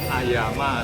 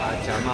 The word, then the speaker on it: Ayama: Ini kita ada di Kopitiam Ayama atau Ajama orang sini bacanya.